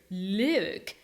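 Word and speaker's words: lewk: Look, and it's spelled L E W K. Isn't it the same as the word look?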